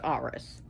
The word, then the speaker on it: Ares: a war god but he's not like rs ares which is pronounced rs he doesn't he's not